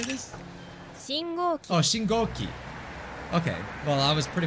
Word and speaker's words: 信号機: I'm pretty sure it's Shingo? Shingo? Is how you say this? 信号機 Oh, Shingoki.